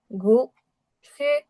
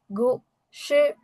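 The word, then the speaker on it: 故事: এখানে আমরা দেখতে পাচ্ছি এটার উচ্চারণ হবে গু সে, গু সে। স্টোরির উচ্চারণ হচ্ছে গু সে, গু সে। কেন? কারণ উপর থেকে নিচের দিকে আসতেছে টোনটা, গু সে।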